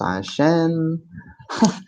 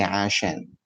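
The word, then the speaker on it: عشان: Is because pronounced ashen. No, both pronunciations are okay. The full word is alashen, but when we're speaking quickly, we can say ashen.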